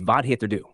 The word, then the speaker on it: vad heter du: Let's refocus on the phrase vad heter du, pronounced vad heter du.